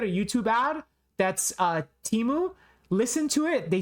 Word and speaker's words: Temu: anyone else notice that last year the commercials for teu pronounced it teu and now the commercials for teu pronounce it temu why do they change it from Teemu to temu in their YouTube advertisements